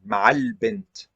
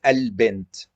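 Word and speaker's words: البنت: See here, the Hamza is not pronounced, Ma'al-Bint. But here, it's pronounced because we start at it, so it's Al-Bint.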